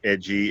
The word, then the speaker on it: EJI: It's pronounced Edgy Experiences, but spelled EJI Experiences on both Facebook and Instagram.